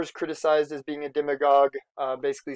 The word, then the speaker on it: demagogue: a good vocab term for you as a demagogue is how you say that sounds like a